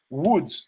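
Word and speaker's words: Łódź: apartment out of it Woods which is how you pronounce o l o DZ because it's got the L with the thing through it in Polish Woods Poland you got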